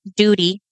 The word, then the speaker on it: Doodi: Some years later, his Aunt Doody. It's spelled Doodi. Do you not read that as duty?